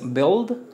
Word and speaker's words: build: tenemos lo que es build build debe sonar la d build build build la única diferencia aquí en pronunciación es que debe sonar aquí d y aquí t build build build después